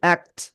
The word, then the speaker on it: act: act, act, act, act, শেষে ঠর মতো উচ্চারণ হবে অ্যাক্ট অ্যাক্ট act, ঠিক আছে action, action,